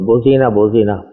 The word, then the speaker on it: بوزینہ: فارسی میں، تو بوزینہ، تو وہ مجھ سے تلفظ کا صحیح نہیں نکل رہا تھا۔ کئی مرتبہ والد صاحب نے کہا کہ نہیں یہ نہیں ہے، یہ ہے، پتہ نہیں اب میں بوزنا پڑھ رہا تھا، کیا پڑھ رہا